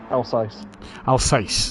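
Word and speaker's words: Alsace: you you're a GT player how would you pronounce this one alce alce there we go CU I was going to go with Alice but that makes more sense um Alice Alice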